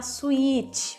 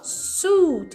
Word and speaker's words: suit: Não vai falar suíte, pelo amor de Deus. Não é suíte, não tem o I, tá? Geralmente as pessoas pronunciam isso errado por causa da série, né? E, óbvio, vê um I ali e quer pronunciar o I. Porém, em inglês, o I é mudo. A gente vai falar só suit. Você vai alongar o U.